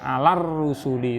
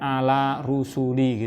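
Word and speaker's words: عَلَى الرُّسُلِ: Tadi juga alar rusuli itu bukan ala rusuli gitu kan, tapi alar rusuli.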